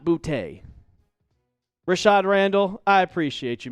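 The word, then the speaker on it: Boutte: But if you look at the pronunciation that the Patriots give, it says B O T E E. So bouty, not bouty.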